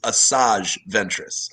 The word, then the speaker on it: Asajj Ventress: Because By I the way, think listeners out there, 7 of the 9 of us do know that it's Asajj Ventress.